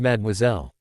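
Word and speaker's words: mademoiselle: Actually, it's pronounced madmoiselle.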